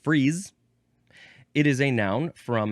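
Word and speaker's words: frieze: Uh so we shall move on to the second form of this word which is this one is only pronounced freeze.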